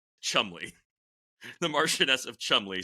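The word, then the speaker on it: Cholmondeley: in you know typically entertaining fashion it's actually pronounced Chumley the Martian of Chumley spelled like shimay um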